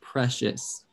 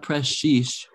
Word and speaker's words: precious: this word is pronounced precious gracious yeah precious gracious fresh precious gracious fresh it's like fresh yeah fresh fresh precious so it's not press sheesh there's not a double